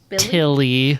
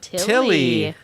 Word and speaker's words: Tilly: It rhymes with Lily, but her name is Tilly. Tilly.